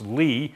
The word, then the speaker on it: Sophus Lie: Norwegian mathematician named Sophus Lie. So that's pronounced Lie, not Lie.